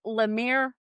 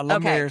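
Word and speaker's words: LeMaire: Lamir. Am I saying my name right? Yeah. Laamir.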